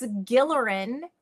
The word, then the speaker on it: Gilleran: And he said, "Oh, it's Gillerin with a hard G."